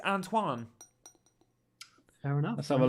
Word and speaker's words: Antoine: Not Anthony, Antoine. Yeah. Antoine, sorry. I think it's Antoine. There is an Anthony Robinson there, is there? I think it's Antoine. He's American, isn't he? I think it's Antoine.